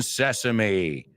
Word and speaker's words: sesame: Open sesame. Abre sésamo, right? Same thing. It's only that E se pronuncia como una I latina.